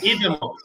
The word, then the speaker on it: Idemo: Idemo. You know how Idemo you remember. Nuggetsi. I wrote it down how it's easiest to remember. So demo, like demo version of something.